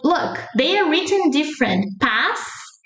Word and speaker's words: paz: We add that E sound at the end in words ending with S or Z.